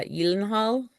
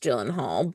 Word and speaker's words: Gyllenhaal: Are you thinking that it's it might be uh, Yilenhal? I don't know. I don't know. I've always I've always heard it pronounced Gyllenhaal, but you never know.